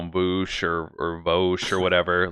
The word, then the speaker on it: Vaush: Vaush? Vaush. Vaush. Wow, that's really impressive. Yeah, that's a meme within his community. A lot of people come on and debate him and like call him Vaush or Vaush or whatever.